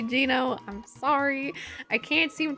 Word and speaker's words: Geno: you meet Geno, or I keep getting told that I'm saying his name wrong, but that's how I've said it since I was like a little kid and first played the game. I know it's supposed to be Gino.